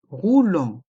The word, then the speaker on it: roulant: de béquille est mué ainsi que le thé de roulant est mué des béquilles un fauteuil